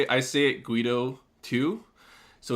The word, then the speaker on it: Guedo: But then I found out recently it's Guido. Like I guess my auntie went to Europe or some shit, and it's actually French and it's Guido.